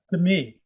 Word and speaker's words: Demi: and demi lovato right right i believe it's pronounced to me i think it's to me to me more okay sorry it's spelled demi um okay